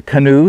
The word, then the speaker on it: Kanu: or made very often they call it the canoe spelled with a k and in fact what this stylus spoon is known as is the canoe as in c-a-n-o-e so this is the